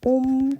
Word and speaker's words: 옴: 그래서 옴 또는 오메가 이렇게 얘기하는데 옴이라고 읽습니다.